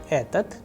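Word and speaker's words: этот: But the pronunciation should be etat because the udarini or stress sign is on a.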